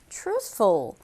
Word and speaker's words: truthful: 단어 입니다 오늘의 키워드 출소 자 어느 s 와 같이 사용하는데요 어떤 뜻이냐면 정직한 또는 진실한 로 뜻을 가지고 있습니다 발음 한번 볼게요 추후 소 앞에 수소 은근이 어려워요 앞에 강조했어요 출소 그래서 어 추 쓰